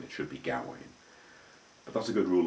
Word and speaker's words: Gawain: the round table gawain it really should be galway i just pronounce it that way because it's it's habit that i've grown up with because everyone says get wayne it should be galway but that's a good